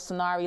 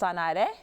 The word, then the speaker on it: Sanare: And so I found out about a group called Sonari Life, and it's actually pronounced Sanare. Ah, Sanare. You got it. Yes, you got it. It's Latin for to heal and to restore.